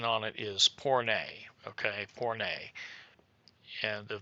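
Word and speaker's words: πόρνη: feminine and this is the Greek word, the pronunciation on it is porne, okay?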